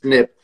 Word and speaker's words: SNP: to know okay what genetic it's called a snip right one little change snp it's pronounced snip what one snip will mean that i need